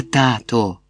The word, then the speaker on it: тато: Я тато. Тато. І все. Без наголосу на останньому складі.